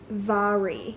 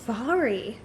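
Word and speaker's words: Mhairi: to say her name, Mahiri McFarlane. I think there's something with the pronunciation. Let me Google it actually. Her name is pronounced Vari. Vari. I wouldn't have guessed that, so I'm glad I Googled that.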